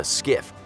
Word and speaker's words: SCIF: Number Eight: The SCIF (pronounced SKIFF) Going along the lines of secure information, onboard every carrier is what is called a SCIF which stands for Secure Compartmentalized Information Space.